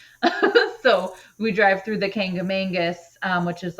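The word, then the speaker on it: Kancamagus: There's like it's called the well, now there's like new controversy how it's pronounced, but I call it the Kangamangus because that's how we said it when I was little. So we drive through the Kangamangus, which is like a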